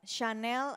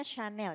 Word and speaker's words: Chanel: Ayo Chanel guci bukan Chanel Oke Tapi bacanya Chanel ya bukan Chanel No malu tasnya udah mahal